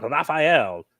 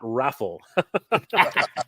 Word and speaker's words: Raphael: His name is pronounced Raphael, not Raffle.